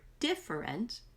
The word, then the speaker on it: different: The word different is a 3-syllable word, but the most important syllable is the first syllable. That's where you have to put the emphasis to stretch it out, and it has